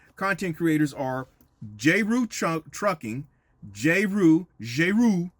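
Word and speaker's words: Jeru: These three content creators are J-Roo Trucking, J-Roo, I think that's the way it's probably pronounced, since I understand she's of a French-speaking, origin. J-Roo, J-E-R-U Trucking, and she's based out of the New York, New Jersey area.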